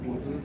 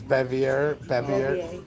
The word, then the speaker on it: Bevier: Did they just say they're getting a load from Beaver, Missouri? The irony, huh? It's not Beaver, it's Bevier. Bevier.